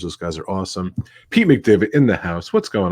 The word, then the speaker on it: McDevitt: Pete McDevitt.